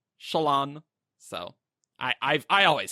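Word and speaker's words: Shallan: I was Shalan for a long time and then went to Shalan. Yeah. So I used to say Shalan, but now I say Shalon. Yes, lots of people have said it that way. Yeah. So, but Brandon does say Shalon, so I always said Shalon personally.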